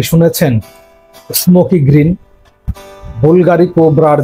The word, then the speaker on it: Bvlgari: বুলগারি নামের যেমন বি এর পরে ভি, কিন্তু আমরা উচ্চারণ করি ইউ, এরকমই চমৎকার একটা রহস্যময়তা এর ভেতরে আছে।